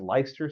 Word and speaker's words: Leicester: Tulk owned, I think it's pronounced Leicester Square. It's spelled like weird, but Leicester Square in London.